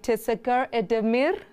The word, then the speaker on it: teşekkür ederim: I believe in Turkish, I should say teşekkür ederim, or is it ederim? Thank you. I'll get it right. That was a great pronunciation, yeah?